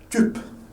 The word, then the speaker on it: Typ: Et ça se prononce comme le U française. Donc, ce mot, on la prononce tup.